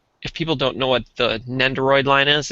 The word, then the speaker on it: Nendoroid: I've heard them called eggheads before, but yeah, this is Nendodroid or whatever you call it. Nendo. Oh, I can't even pronounce it. Nendoroid? Yeah.